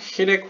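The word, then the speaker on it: חיריק: 히렉 혹은 히릭이라고 읽습니다 원래.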